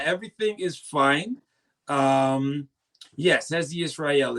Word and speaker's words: Hezzy Ysrayl: Um, yes, Hzi Israel is exactly how you could pronounce my name.